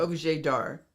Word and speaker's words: objet d'art: Object d'art. How do you say that? Objet d'art.